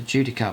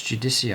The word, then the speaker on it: Judiciar: I was going to pronounce that as the Judiciar, but it's not. It's Judiciar, I think, because it's got an IAR at the end.